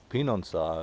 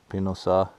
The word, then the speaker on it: Pehonanseh: 7 kilometers one way to Pehonanseh, I believe is the pronunciation.